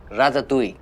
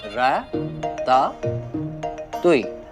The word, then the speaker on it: ratatouille: It's pronounced as ratatouille। बोलो मेरे साथ, रा-ता-तुई।